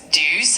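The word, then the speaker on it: douze: Number 12 in French is dues and it's spelled d o u z e.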